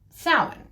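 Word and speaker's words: Samhain: right and um people make a point of pronouncing it correctly sin right but belt is always said as belt when it's not.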